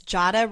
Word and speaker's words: Jada: people on your name it's Jada rhymes with Prada right yes and NADA and